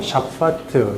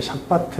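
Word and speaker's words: שבת: 샤파트 샤바트 샤바트 뭐 발음이 그런데 두 발음 다 괜찮은 거 같아. 샤바트 해도 되고 구별하려고 이건 명사니까 샤바트로 하자.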